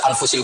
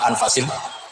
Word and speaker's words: anfas: Di sini ditulis anfusil kutub. Kalau saya baca anfasil kutub karena maknanya kitab terbaik. Kalau kitab terbaik bacanya bukan anfus tapi apa? Anfas.